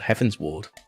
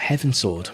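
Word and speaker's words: Heavensward: a whole expansion called Heaven's Ward if you pronounce it wrong it sounds like heaven sword as you please I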